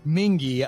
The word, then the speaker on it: Mingee: Like the Mingee, I get it right.